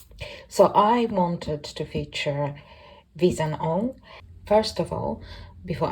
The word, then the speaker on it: Wheeshan: I wanted to feature visan on first of all before anyone comes for me her name is pronounced V isan I will include a